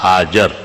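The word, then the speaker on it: هاجر: کا حکم ہوا کہ بی بی حاجرہ لفظ نہیں ہے، حاجرہ یہ موزمبیک زبان ہے، حاجرہ جاہلوں کا تلفظ ہے۔ لفظ حاجر بفتح الجیم و بدون الہا فی آخرہ ہی اسم ام اسماعیل،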